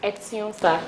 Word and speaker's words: Etinosa: It's Etinosa. Etinosa. The N is silent.